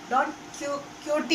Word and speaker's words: Don Quixote: Don Quixote is the pronunciation, but spelling there is an X between I and O. When we pronounce it, never pronounce that word X, not Don Quixote.